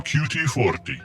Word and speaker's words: QT40: I am QT40, not pronounced cutie.